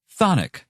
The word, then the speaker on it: chthonic: Well, the first C is silent. And not to mention the first H. Whatever. Thonic means having to do